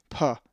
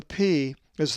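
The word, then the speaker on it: π: upper and lowercase p, which is always pronounced pa, as in past. The p is the most recognized Greek letter in both upper and lower case, as it is used extensively in mathematics, and it is the p sound. The numeric equivalent of the p is 80. In true Greek, it is not pronounced pi.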